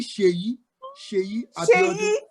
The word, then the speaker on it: Seyi Abiodun: It's actually Seyi. See that? So it's actually Seyi Abiodun.